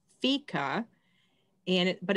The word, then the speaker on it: fika: was reading um and it's a swedish word and it's pronounced fica and it but it's